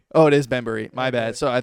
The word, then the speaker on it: Bembury: it's Bembury. Oh, it is Bembury.